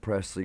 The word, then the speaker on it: Presley: That's exactly how you say it. Presley Grace, just like the last name, Elvis Presley, just the way you spell his last name.